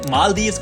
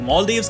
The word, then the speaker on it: Maldives: में जिसका नाम है मालदीव्स कुछ इसको लोग मालदीव्स कहते हैं कुछ मालदीव कहते हैं कोई मालद्वीप कहते हैं उर्दू में तो